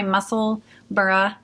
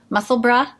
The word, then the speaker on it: Musselburgh: to say it yes so it's funny because we have a town here called Pittsburgh and it's spelled b-u-r-g-h and we call we call it no one calls it Pittsboro Pittsboro so um but in Scotland they do say Edinburgh and musselburgh so uh yes so